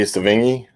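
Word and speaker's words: Sevigny: mindy uh oh god i hope i don't butcher the last name sounding but it's uh chloe savingy that is correct okay yeah is that how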